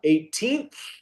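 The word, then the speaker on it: eighteenth: espera, pronuncia un poco más la TH al final. 18th.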